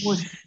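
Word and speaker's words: муж: Kemudian Mush, suami istri muj. mush, Istri mush. itu Bukan muj, muj. mush.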